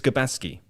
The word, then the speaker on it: Gabaski: gubensky isn't it garbanzo again my apologies for pronouncing it it's gabaski is he the third choice goalkeeper he was